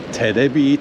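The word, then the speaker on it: テレビ: Because they're really bad at pronouncing English, it's called Terebi Tower.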